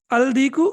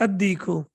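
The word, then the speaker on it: الديك: How should I pronounce it? Any idea? Al-baytu, excellent. Okay, what about dik? Al-diku or ad-diku?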